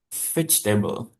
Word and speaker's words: vegetable: The answer is veget table. Bacanya veget table ya. Oke. Walaupun tulisnya vegetable tapi bacalah vag jadi vag v f table.